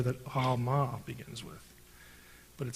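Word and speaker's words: עלמה: Now, in Hebrew, it's Alma. The letter is pronounced in the back of the throat.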